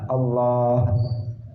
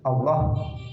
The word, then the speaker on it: Allah: Allah, A-nya pendek, yang panjang itu lamnya yang di tengah. Allah, kemudian ada haknya di akhir.